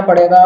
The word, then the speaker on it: pseudo: आके टाइप कर लूंगा पडो अच्छा प इसका साइलेंट है ठीक है ना प